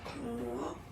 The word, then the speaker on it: moi: Moi, so it's me. Moi. So remember this O-E combination gives you the sound wa.